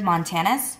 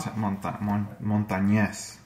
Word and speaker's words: Montañez: what is it, Richard Montanez? Well, I'm probably saying his last name wrong. Montañez. Montañez? Yes.